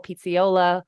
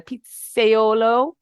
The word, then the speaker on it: pizzaiolo: uditi hails from Naples Italy he's an incredible Pizzaiola uh Pizzaiolo I don't want him to make fun of me for mispronouncing that and it's Neo neapolitan pizza we